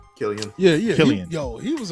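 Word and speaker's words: Cillian: uh silly and murphy is that how you pronounce his name killian yeah yeah yo he was a really great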